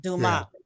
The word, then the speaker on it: Dumas: Dumas, yeah, Dumas without the S sound.